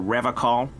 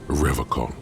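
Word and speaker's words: Revachol: But someone has to stay strong for Revacol. Revacol? His gaze shifts to the pile of soggy logs at his feet. He pronounces Revacol with a hard K, unlike other people.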